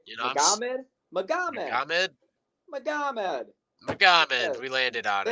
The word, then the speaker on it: Magomed: Magomed.